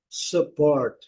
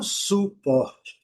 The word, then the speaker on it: support: Ã ã, então é support, support, não suporte, porque nós temos esse problema também porque nós temos palavras similares, semelhante, quase igual. Nós falamos suporte, suporte. Eles falam support, support.